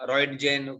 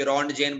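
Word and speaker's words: Röntgen: तो प्रोनाउंसिएशन रॉयंटजेन, कोई रॉन्टजेन बोलते हैं, अलग अलग होता है।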